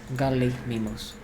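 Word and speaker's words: Gallimimus: Unfortunately, I still need to use signs for the gali garus. Illegal pronunciation, by the way. Garly mimus.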